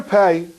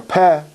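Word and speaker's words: פ: The letter Pei, or Peh, means a mouth. That's what the letter is spelled Pei. You want to spell out the letter, I'm pronouncing it like an Ashkenazi. Schwartz Jew would say Peh. Peh.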